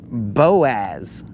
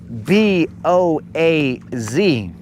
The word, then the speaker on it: Boaz: It is spelled B O A Z. So, okay. Town name Boaz. Should this town not be called Bose? Because I don't say like the word toad.